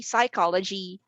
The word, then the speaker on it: psychology: tsunami b mnemonic c psychology d schizophrenia the answer is very obvious three out of these four choices would have silent letters in the start obviously those are letters